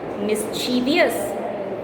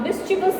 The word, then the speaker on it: mischievous: Mischievous. The correct pronunciation is mischievous. For example, an idea brought a mischievous smile to her lips.